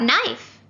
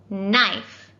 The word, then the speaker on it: knife: silent and what about knife what letter do you think it starts with knife i think it starts with an n right that's how it sounds but no it also has a silent k well did you know